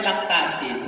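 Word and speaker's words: Lactacyd: Lactacid or lactacid? Lactacid. The proper way to pronounce it is lactacid.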